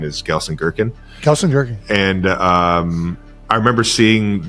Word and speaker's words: Gelsenkirchen: If you say it with a German accent, it probably sounds more like the actual city, but my American accent is Gelsenkirchen.